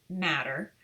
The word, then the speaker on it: mater: It's spelled mater, M-A-T-E-R, but it is pronounced matter.